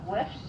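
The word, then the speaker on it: Wilfs: It's called Wiffs, and it's spelled W-I-L-F-S.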